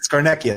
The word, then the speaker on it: Scarnecchia: I do want to thank Brandon Miller, Scarnecchia, or is that how you say it? Scarnecchia? Yeah, Scarnecchia. There you go.